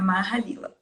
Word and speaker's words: Maha Lilah: Então, você perguntou se tinha pronunciado certo, é isso mesmo, é Mahalila.